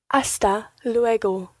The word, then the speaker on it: hasta luego: Hasta luego. Hasta luego. Hasta luego. Muy bien. Now, another wee Spanish pronunciation tip here. The G in hasta luego is a very soft G.